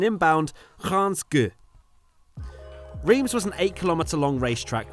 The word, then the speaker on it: Reims: It's to talk about the historical track of pronunciation inbound, Reims. Reims was an 8-kilometre long racetrack with an overall